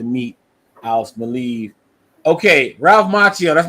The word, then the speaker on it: Macchio: Okay, Ralph Macchio. That's not the Karate Kid though, right? Yeah. Well, so I've always pronounced it Macchio, but I heard Tom DeFalco in an interview the other day say Macchio.